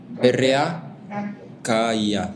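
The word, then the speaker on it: רקיע: R-A-K-I-A o Q-I-A. Ajá. Así como se escucha rakia.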